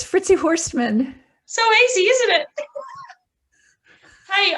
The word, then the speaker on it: Fritzi Horstman: you like to tell the world how to pronounce your name properly sure it's fritzy horstmann so easy isn't it hey i'm so so